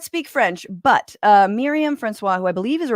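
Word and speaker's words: François: And if all of this sounds head spinning and difficult, leave it to Miriam Francois, I'm sorry, the S is silent. I do not speak French, but Miriam Francois, who I believe is a reporter for Al Jazeera English, was on Sky News.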